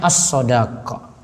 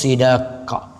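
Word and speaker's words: الصداق: Bahasa Arabnya as-shadaqah. Shadnya di fathah, dalnya juga, boleh juga shadnya di kasrah, jadi bacanya babus sidaqah. Namun dengan fathah itu lebih masyhur.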